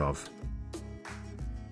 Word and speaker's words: を: is used when the word it follows is a topic that the listener is aware of. Next is particle o. Particle o. In writing, it is wo in hiragana, but pronounced as o.